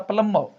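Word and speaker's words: plumber: Okay, तो then are is silent, इसलिए मैंने लिखा प्लम्बर।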